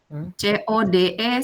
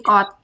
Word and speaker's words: code: C O D E switching. Pernah dengar istilah itu? Code. Heeh. C switching. Bacanya gimana tuh? Code. Iya. Banyak orang banyak orang bilangnya bukan code tapi kot.